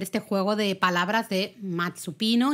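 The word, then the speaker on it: 松: se la llevarán cl pino en japonés es matsu y se dice igual aunque se escribe con kanis diferentes claro se dice igual que el verbo esperar Exacto Entonces la idea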